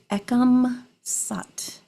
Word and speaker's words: Ekam Sat: And this mantra is pronounced Ekam Sat.